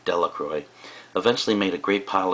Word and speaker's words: Delacroix: and Harry Jones and Dicky Lucroy the villagers pronounced his name Delacroix eventually made a great